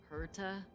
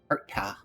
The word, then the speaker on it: Herta: Hera. Herta. Yeah. You have to put a very big pronunciation on the T.